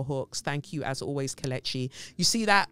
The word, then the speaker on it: Kelechi: Thank you, as always, Kelechi. You see that? My name is pronounced Kelechi or Kelechi. Yeah? Not Kelechi.